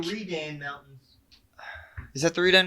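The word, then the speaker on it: Readan: It has an E, but it is pronounced A. It's like, the Redan Mountains.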